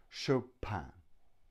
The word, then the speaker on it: Chopin: pin but show pan-pan which is a very French pronunciation Chopin and now we have